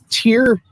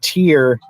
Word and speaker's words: Tyr: one who loses his army defending here oh tear yeah yeah yeah yeah um it so tyr lost his hand to fenrir when they were